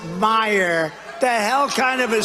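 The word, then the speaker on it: Meijer: of the 10 impeachers, a guy who spells his name M-E-I-J-E-R, but they pronounce it Meyer. The hell kind of a spelling is that? Meyer. Meisher. It's Meisher, but it's actually pronounced Meyer.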